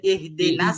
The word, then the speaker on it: اهدنا: ইহদিনাস সিরাতাল, اهدنا الصراط ইহদিনাস সিরাতাল, اهدنا الصراط এই যে হামজার পরে কিন্তু হা আসছে, এই হাটা উচ্চারণ করার ক্ষেত্রে বাতাস বের করতে হবে।